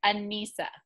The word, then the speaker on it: Anissa: So I might have It's just think of Lisa. It's Anissa. Okay, Anissa.